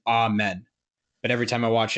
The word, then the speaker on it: Amen: They're just still preaching about amen.